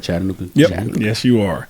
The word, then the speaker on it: Chattanooga: Am I saying it right, Chattanooga?